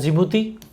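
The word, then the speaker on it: Djibouti: इट is also terminal station for द जिबूती Addis अबाबा। इसमें D silent रहता है rail route.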